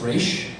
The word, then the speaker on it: Ra's al Ghul: Because Nyssa, in the most recent episode, says Raish.